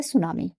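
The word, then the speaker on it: tsunami: Cyclone second disaster है सुनामी। ठीक है? दो डिजास्टर की बात की गई है। पहला साइक्लोन है और सेकंड है आपका सुनामी। टी साइलेंट रहता है बेटा।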